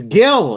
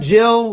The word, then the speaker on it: Gil: Steve going crazy behind the scenes saying it's Gil. It is not Jill.